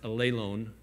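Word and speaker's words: ἀλλήλων: I don't know if you're familiar with that, but there's a Greek word that's pronounced allelon, which you find over 100 times in the New Testament.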